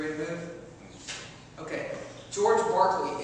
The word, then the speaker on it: Berkeley: to move okay George Barkley it's spelled Berkeley it's pronounced Barclay all right don't ask